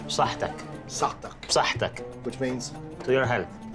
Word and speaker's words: saħħtek: You scoop in, you say saħħtek.